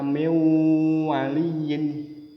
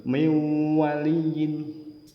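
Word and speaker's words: من وليّ: wawu contoh yang mudah Min waliyin tulisannya Min waliyin tapi dibaca mewaliin harus dengung seolah-olah huruf w-nya atau wawunnya dobel miwaliin selanjutnya yang keempat izhar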